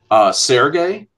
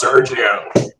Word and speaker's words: Sergio: without knowing any better called him Sergey I said it wrong and me and I got crucified for that it's Sergio I'm sorry yeah I have